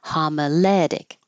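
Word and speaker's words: homiletic: And this is another example of when it ends with an ic. The syllable before is almost always stressed. So, and f this one's following that rule. Homalic.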